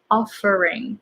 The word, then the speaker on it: offering: So this is something difficult because it's F and R together, but these are very different. So you can pronounce F using your lip, and then R. The tongue gets pulled back as soon as you pronounce F. So you're kind of pronouncing F and R at the same time.